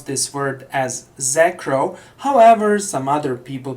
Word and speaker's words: Xacro: x a c r row and some people pronounce this word as zacro however some other people pronounce this word as X Acro however I will use the first pronunciation that